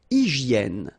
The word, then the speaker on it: hygiène: Une hygiène. So remember we've got this Y here, vowel, and it's pronounced like E. E, okay? Hygiène. H doesn't exist, H doesn't exist in French, so hygiène.